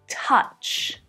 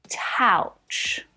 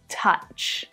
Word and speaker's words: touch: It's not always pronounced this way, but there are a lot of other words that have this same pronunciation, like cousin, double, and trouble.